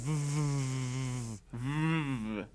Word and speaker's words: VVVVVV: It's pronounced VVV. 6 V's. Yes.